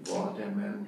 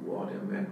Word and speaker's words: Waterman: Hoy día los Waterman o Waterman plumas han hecho, hacen en Francia, por eso mucha gente pronuncia el nombre no como inglés, como Louis Edson Waterman. Hoy día mucha gente pronuncia como Waterman.